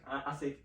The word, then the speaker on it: Asheq: Asheq, did I get it right? I'm so sorry. It's pronounced as Asheq.